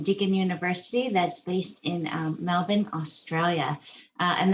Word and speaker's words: Melbourne: university that's based in melbourne australia and that's right melvin um you have to learn how to pronounce it that's one of the